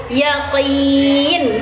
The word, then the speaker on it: yaqin: Bukan ainal ya tapi ainal yaakin. Dipangkal tenggorokan. Dipangkal tenggorokan sedikit ke belakang. Oke teman-teman. Yakin. Oke, Teman-teman semuanya bukan yakin tapi yaakin.